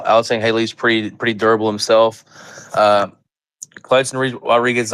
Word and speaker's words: Alatengheili: Alatengheili. Is that how it's said? Alatengheili. It is, you do say the H.